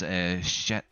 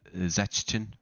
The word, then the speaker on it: Szczecin: This is Szczecin. Is that how you say it? I think it's pronounced as a Z.